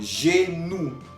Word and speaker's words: genou: Tenemos otro ejemplo, genou. Genou, que significa rodilla, la rodilla. Al final estamos oyendo OU. OU, que quedamos que se pronunciaba U.